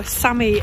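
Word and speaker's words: Sámi: know what we've been Sami we've heard it pronounced both ways by samies the people who are the samies Samy who knows anyway we're going to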